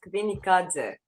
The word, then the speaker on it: Kvinikadze: If if you know how to pronounce spell Kamikadze, it's just kind of a little bit different, but very close. It's Kvinikadze. Kamikadze, Kvinikadze. That's it.